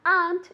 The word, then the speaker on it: aren't: Why aren't you ready yet? I never, ever, ever want to hear aren't, okay? Aren't doesn't exist. It's just one syllable.